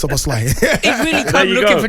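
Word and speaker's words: Szoboszlai: It's Soboslai.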